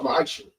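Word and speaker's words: מעשר: Means 10th in Hebrew and it's pronounced ma'asher.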